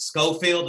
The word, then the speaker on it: Scofield: Is it Scofield?